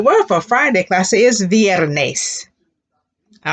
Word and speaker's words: viernes: from thursday to friday repeat that classy oys viernes muy bien how to say it's thursday fill